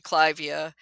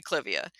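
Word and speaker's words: Clivia: like cvia is actually clavia after Lord Clive um but we've all agreed uh we the general plant nuts have decided we're gonna say civia yeah yeah um so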